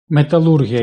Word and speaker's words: металургія: МеталУргія Італії (пам’ятаємо про правильний наголос) за обсягами виплавки сталі займає друге місце в Європі після Німеччини.